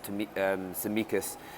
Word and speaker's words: Tsimikas: pronounced to me um samikas i think the t is silent and that's the mikas very talented boy seen him